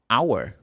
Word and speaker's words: hour: Because you can have the letter H pronounced like, well, not pronounced. Sorry, it's better saying that. Like if I say hour. 1 minute, 1 hour. The letter H is silent.